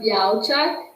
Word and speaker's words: Białczak: So it's pronounced Białczak. I Okay. know, without the L, basically.